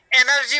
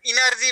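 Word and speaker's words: energy: अब यस्तो एनर्जी भन्नुपर्छ, इनर्जी भनिदिने। अब यो स्वर वर्ण बिगार्ने, उच्चारण वर्ण ध्वनिको चाहिँ मूल जड संस्कृत हो।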